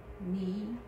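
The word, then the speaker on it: ν: Knee. Knee. Knee. In English pronunciation is N, N sound.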